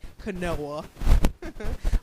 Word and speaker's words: quinoa: have broccoli spirulina lentils quinoa or for those who pronounce it differently canoa blackstrap molasses all right